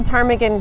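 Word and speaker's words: ptarmigan: yeah let's hear it why can't you hear the tarmigan go to the bathroom uh I don't know why because the pee is silent we'll see you next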